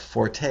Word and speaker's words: forte: um Peter Rael says actually to be correct Forte is pronounced Fort but who's counting I